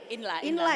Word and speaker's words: INLA: Nah, sebelumnya nih, Ibu boleh dijelasin dulu Ibu Neli ini dari Inla ya bacanya Bu ya atau INL? Inla ya.